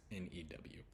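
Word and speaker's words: knew: So there's new, the past tense of no, sounds new with K-N-E-W, sounds the exact same as N-E-W.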